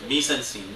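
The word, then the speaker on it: mise-en-scène: Mise-en-scene means, it's correctly pronounced as mise-en-scene.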